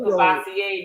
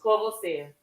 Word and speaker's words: Courvoisier: So don't go ask for no Cavassier no more, Rob. Say Courvoisier.